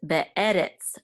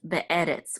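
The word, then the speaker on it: בְּאֶרֶץ: So this is the accented syllable of this word, be'e. And this is a resh with a segol and it's sadi at the end, which says retz. So this is be'eretz, be'eretz, which means in the land of.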